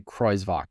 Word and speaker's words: Jacques Crovak: It's crazy spelling, but it I think you say Crovok is the way to to pronounce it.